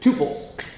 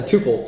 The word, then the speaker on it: tuple: Okay, let's look at tuples. If you use hooks in React, you will be provided a tuple or a tuple, depending on how you pronounce it, okay?